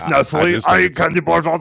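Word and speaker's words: Nestlé: Oh no, it's Nestle.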